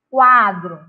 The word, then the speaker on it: quadro: Quati, queijo, quiabo, quibe, quadro. Qual deles a gente pronuncia? A gente percebe a letra U. No quati e no quadro.